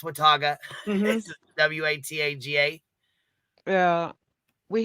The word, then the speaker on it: Wataga: got Wataga like Wataga people say water guy I'm like no it's Wataga this is w-a-t-a-g-a yeah